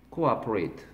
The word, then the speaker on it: cooperate: Cooperate. 코아퍼레이트하고 코퍼레이트는 다른 거죠. 코아퍼레이트.